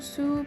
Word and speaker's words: Sault: hòn đảo Đầu tiên, tôi nghĩ nó được phát âm là "Sault" parkway dài nhưng tôi đã tìm kiếm trên Google và mọi người nói rằng bạn cần phát âm "sue" parkway dài Ngay cả người Canada